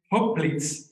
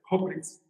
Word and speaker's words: Hoplites: etymology is connected to the Greek name Hoplitz, H-O-P-L-I-T-E-S, Hoplitz, wondering I'm pronouncing correctly, H-O-P-L-I-T-E-S, which refers to foot soldiers in ancient Greece.